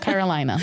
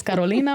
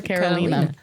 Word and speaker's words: Carolina: It's not Carolina. We'll say that. It's not Carolina. It's Carolina or Carolina.